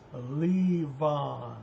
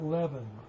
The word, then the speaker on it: Levon: Now, the question everybody wanted to know, how do you pronounce Leon? And there it is, Leon. It's not Levan.